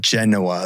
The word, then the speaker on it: Genova: Yeah, it does take place in the general vicinity of Genoa, the city in Italy. Genova. It's Genova. Yeah, I think it's Genova. Genova. Yeah, you're not pronouncing it quite right, Dan.